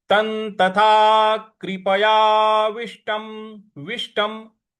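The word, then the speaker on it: तं: तन। त के बाद जो अनुस्वार है त के ऊपर, उसका उच्चारण हमें न ले आना है क्योंकि उसके आगे त है।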